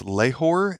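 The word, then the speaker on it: Lahore: Mark and so that means it's from probably mispronouncing this leor l a h o r e which is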